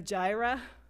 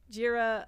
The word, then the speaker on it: Jira: Um, in the meantime, we have Gyra, Jira, um, my boss at Fiser, um, pronounced it gyra, we have GitHub, we